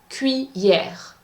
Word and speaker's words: cuillère: The pronunciation for the third one, une cuillère. Cuillère has two syllables. Cuillère.